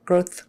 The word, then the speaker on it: growth: there growth growth growth if you don't put your tongue forward at all growth growth growth growth is going to sound wrong even if you're teeth aren't obviously touching growth growth growth growth growth can you hear the difference growth growth growth growth growth it's very slight but it's it's there so make sure you get your th growth growth heart attack